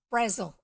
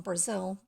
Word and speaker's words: Angela Brazil: books apart it's pronounced Brazil even though it's written in Brazil if you look up any information about her it makes a point of emphasizing that it's frazzle not Brazil even though her great